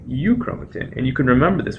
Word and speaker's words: euchromatin: When it's loosely associated, it's called euchromatin, and you can remember this with the mnemonic heterochromatin is highly condensed, and euchromatin, eu rhyming with true, truly transcribed.